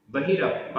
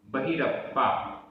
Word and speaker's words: बहिरप्पा: बहिरप्पा, बहिरप्पा आधा पा पूरा पा, बहिरप्पा।